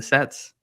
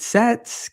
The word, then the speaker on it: Cets: Is it Sets, Cats? It's Do you Cets. guys Yeah. still say cats? Okay. Yeah. Cats.